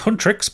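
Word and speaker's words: HUNTR/X: Hunter/X, pronounced Huntrix, but it's got a slash in the place of the I, are a Korean music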